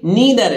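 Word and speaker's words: neither: इसी तरह नाइदर बोलते हैं, नाइदर नहीं है नीदर है, एन ई आई टी एच ई आर, ठीक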